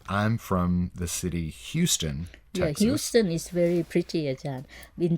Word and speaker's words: Houston: funny ones uh I'm from the city Houston Houston is very pretty attack been tying wrong you